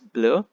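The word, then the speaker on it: bleu: next color is blue the masculine for blue is blur okay it's not blue e and you are interchanged it's blue and the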